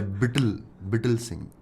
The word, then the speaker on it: Bittle Singh: I'm trying to learn how to play it also by Bittle Singh. It's like brittle without R.